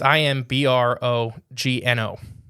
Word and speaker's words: Imbrogno: So, I'm saying his name wrong. Imbrogno. It's Imbrogno.